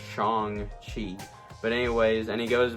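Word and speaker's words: Shang-Chi: i wonder why i keep wanting to say shang chi i guess because everybody thought that that's how it was uh kind of said or whatever but anyways it's actually pronounced chong chi but anyways and he goes by uh sean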